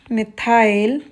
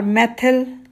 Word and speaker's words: methyl: The name of this particular compound would be methyl chloride, methyl or methyl chloride, the way you want to pronounce.